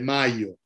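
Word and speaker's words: Majo: napolitano llamado gianfrancesco de mayo se escribe de mayo de mayo en mayo es una y es ahí es una y larga que casi no existen ya en italiano gian francesco de mayo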